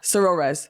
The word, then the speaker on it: Sorores: Sorores.